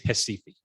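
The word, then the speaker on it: Recife: square box there uh pronounced in portuguese hessifi now if you whether you've been never been to hasifi or brazil or south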